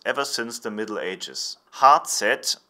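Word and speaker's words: Hazet: since the Middle Ages heart set stands for the German pronunciation of the letters H and Z which is heart and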